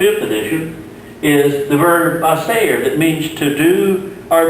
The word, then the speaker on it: hacer: It goes from hacer with an S sound to co if it were a C with a K sound.